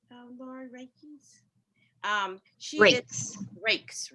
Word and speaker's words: Raikes: Jennifer Raikes, is that how we pronounce her name? Lauren Raikes. She is Raikes. Rakes.